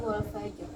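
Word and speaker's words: الفجر: Jadi masuk kaidah dulu, ronya sukun, sebelumnya sukun, maka lihat sebelumnya lagi, sebelumnya fathah, maka dia dibaca tebal. Contoh wal fajr, contohnya ya, wal fajr.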